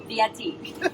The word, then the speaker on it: Fieri: So Fieri. Thank you, Fieri.